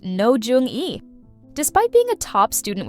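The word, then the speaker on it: Roh Jeong-eui: Based on a hit webtoon, this campus romance revolves around Bunny, a bright but clueless college student played by Ro Jong-ue, pronounced No Jung-e.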